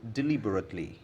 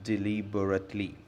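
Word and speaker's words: deliberately: मैंने ऐसा जानबूझकर नहीं किया, I didn't do इट डिलीबरेटली, डिलीबरेटली इसका प्रोनाउंसिएशन है डिलीबरेटली। बहुत से लोग इसे डेलिबरेटली कहते हैं जो गलत है।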